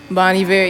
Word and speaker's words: Bon Iver: Bon Iver, yeah. I like how you pronounce his name right too.